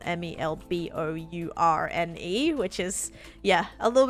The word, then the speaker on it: Melbourne: of people will say Melbourne cuz it's spelled m e l b o u r n e which is yeah a little bit weird that like all that L part is silent but Melbourne guess you